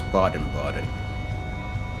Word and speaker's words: Baden-Baden: I believe it's pronounced Baden-Baden. Yeah, I think so. It's Baden-Baden.